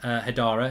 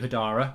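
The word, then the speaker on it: Haidara: I mean, hypothetically, right, we go for this lad from Leipzig, Hadara, if that's how you pronounce it, and Amadou Hadara. Got to get pronounced Hadara. I was calling you Amadou Hadar.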